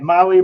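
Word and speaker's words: MAHLE: For our podcast listeners, Molly is spelled M-A-H-L-E.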